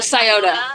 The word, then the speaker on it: Scioto: His body was discovered and how do you pronounce it? The Scioto.